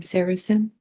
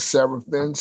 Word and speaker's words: Saracen: So, and the Sarah, however you pronounce that, Seraphines. How Saracen.